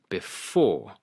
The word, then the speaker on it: before: For example, on before it is the second syllable before.